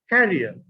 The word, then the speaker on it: carrier: One is pronounced career, and the other is pronounced carrier.